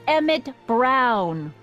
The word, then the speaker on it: Emmett Brown: to a tee that's Emmett Brown rhymes with clown which I'm beginning to